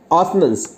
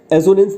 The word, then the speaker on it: assonance: एक होता है इसमें ऑसनेंस, ऑसनेंस ASSONANCE होता है। एजोनेंस नहीं, ऑसनेंस, एजोनेंस भी कहते हैं लोग, लेकिन ऑसनेंस इसका करेक्ट प्रोनाउंसिएशन है।